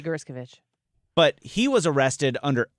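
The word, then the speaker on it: Gershkovich: But then you look at Evan, how do you say his last name again? Gerskovich. That's what I'm saying this hour. Next hour to be Gerskovich.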